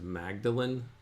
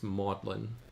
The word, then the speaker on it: Magdalene: whole time um as Magdalene College um and that's how it's spelled but the way that it's apparently pronounced as modlin so that's how I'm